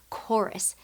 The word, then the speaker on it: chorus: Choir and chorus both start with CH. It sounds really like the H is silent, doesn't it? It sounds like we're just making the K sound.